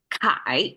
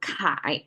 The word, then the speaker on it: 铠: Okay, according to scholars, Kai is the right side pronunciation, and it is the celebration of a victory of this your army.